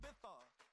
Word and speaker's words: Ibiza: I just went to Spain, that's a Ibiza. Ibiza. Yeah, it's pronounced Ibiza, actually.